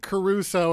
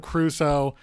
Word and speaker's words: Crusoe: on the clock still if you pronounce it Caruso instead of Crusoe you still don't get